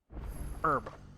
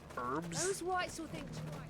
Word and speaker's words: herb: Um herb like medicine or uh you know seasoning. herbs. It's spelled H E R B, but the welcome H is silent.